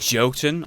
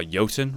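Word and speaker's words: Jotun: looks very interesting with joltin or yotan rather as twitch told me it's supposed to be pronounced also looks like a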